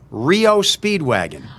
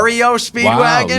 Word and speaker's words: REO Speedwagon: Rio Speedwagon. Oh, I'm like, Wow. REO Speedwagon? yeah. But an AI doesn't know. It's Yeah. Rio. It's REO, not Rio.